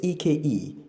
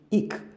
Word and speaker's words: eke: And what does the verb ik mean? It means to manage resources so it can last a longer time. So you can see that young man was basically eking out a living, not ek. People pronounce it as eking out a living. No, it's ik.